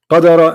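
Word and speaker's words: قدر: Qadara and qaddara is different. This is why the pronunciation is different.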